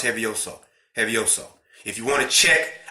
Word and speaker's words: Hevioso: We have one way to pronounce Hevioso.